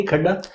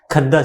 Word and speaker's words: खद्दा: Have I pronounce it correctly? खड्डा? खद्दा सर।